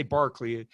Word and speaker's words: Berkeley: say barkley don't say berkeley say barkley it's pronounced barclay spelled berkeley pronounced barkley george barkley